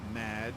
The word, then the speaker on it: Madge: have mispronounced my name it's madge which rhymes with badge uh as in duh